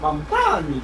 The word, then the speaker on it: Mamdani: I support Mamdani because his last name rhymes with Afghani.